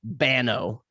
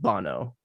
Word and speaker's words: Banno: spelt differently it's like if you were to say it with an american accent it'd be banno but it's b-a-n-n-o so it'll be pronounced bono um obviously in like